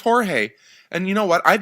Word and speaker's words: Jorge: like the fact that Glenn calls him George because that's not his name. He doesn't pronounce the J's. It's ignorant. He's an ignorant person. His name's Jorge.